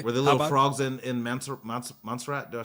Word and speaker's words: Montserrat: Were the little frogs in Montserrat? Do I say it right? Mm-hmm. Montserrat.